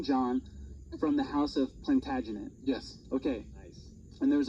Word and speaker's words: Plantagenet: And he was of the house of, I'm going to totally butcher this, the house of Plantagenet.